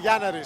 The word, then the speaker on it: Gianaris: In Greek, it's actually Yanaris. So Yanaris. In English, it's Gianaris.